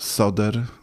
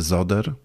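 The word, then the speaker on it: Söder: naszych mediach najprawdopodobniej Marcus soder Marcus No jak gdyby ktoś wiedział że w niemieckim s wymawiane jest jako z No to może z other No ale problem rzeczywiście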